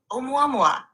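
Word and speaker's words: ʻOumuamua: The object you're referring to is called omua mua, pronounced roughly mua.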